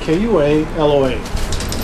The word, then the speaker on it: Kualoa: Now as we make this bend, we'll be leaving Ka'ahava, and we'll be entering an area known as Kualoa, spelled K-U-A-L-O-A.